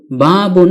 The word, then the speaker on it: بَابٌ: যেহেতু নুন সাকিন কে তানউইনুন বলা হয় সেহেতু বাবুন শব্দটির মূল রূপ হল বাবুন বা যোগ ফাতহাতুন